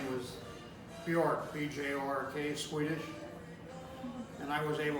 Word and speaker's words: Bjork: But well, my problem there was, her last name was Bjork, B-J-O-R-K, Swedish, and I was able to pronounce it. It wasn't, you didn't say Bajork? No, I said Bjork, my mother's name was Bjork, and, that was my, That was Signy.